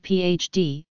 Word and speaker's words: PhD: the degree is abbreviated PhD from the Latin philosophy I doctor pronounced as three separate letters the abbreviation D fill